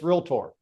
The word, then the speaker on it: Realtor: Nails on a chalkboard, Realtor. Realtor. It's Realtor. Yeah. Syllables.